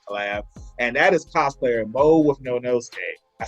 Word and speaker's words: Mo.withnonosuke: My Hero Academia collab, and that is cosplayer Mo.withnonosuke.